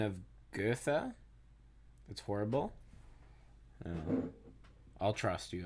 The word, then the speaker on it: Goethe: In German, his name would be pronounced something along the lines of Goethe. Goethe. Goethe. However, in English, it is usually said as Goethe.